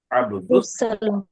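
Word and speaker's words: عبد السلام: अब्दुल सलाम ने बोलना है, हुरूफ शमसी है, जी हम साइलेंट कर दीजिए। अब्दुल, सलाम बोलिए।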